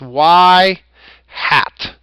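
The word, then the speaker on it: y-hat: known as y hat it's actually pronounced y hat okay now y hat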